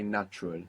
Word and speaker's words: natural: That's a T. So you pronounce a T. A is like a U is like natural. Very good. and the accent on the end as well.